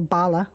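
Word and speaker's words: balla: For example, bala, wall in Irish, is spelled pretty much the way it would be spelled if it were an English word, B-A-L-L-A.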